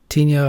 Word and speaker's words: tinea: So onychomycosis, AKAs, are tinea of the nails. Tinea is pronounced tinea.